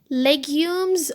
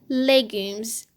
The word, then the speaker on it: legumes: the second word actually this is a french word and it has two ways to pronounce it legumes or legumes legumes legumes lentils lentils